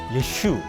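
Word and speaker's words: ישו: 예슈. 예수님을 예슈라고 히브리어로 이렇게 발음하는 거 하고 그리고 선교사 미스온이라고 하는이 두 말이 저희들이 참 굉장히 이게 걸림돌이 되고 유대인도 사람입니다.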